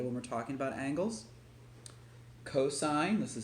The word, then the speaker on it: cosine: we're not saying sin we're not saying cost okay we're saying sine cosine tangent copy this down so